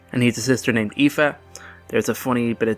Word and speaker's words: Aoife: So yeah, it's Aoife. It's fine. Yes, it doesn't look like how it sounds, but it's Aoife.